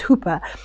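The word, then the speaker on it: ὑπέρ: But it's that word, the prefix is hyper, it's hooper. So it's his intercession is hyper intercession.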